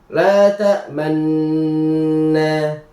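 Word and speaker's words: لَا تَأْمَنَّا: Cara membacanya yaitu ee di huruf atau di lafal lata tak menata nanti sambil mencuci atau memanjangkan kedua bibir ke depan pada pertengahan gunah manna. Contoh bacanya di Quran surah Yusuf ayat 11. Auzubillahiminasyaitanirrajim. Qolu ya bana maa tamna ala yusufa wa inah wa inna lahu lasihun. Cara bacanya la tamna. Jadi pas di pertengahan manna itu dimonyongkan bibirnya. La tamanna.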